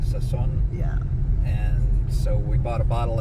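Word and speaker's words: Sousón: Souson with an accent on the second O, Souson.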